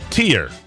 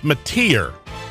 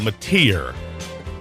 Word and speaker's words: métier: away from that the pier I guess I've been saying it wrong it's métier thank you parents god bless you all métier 14 after you 18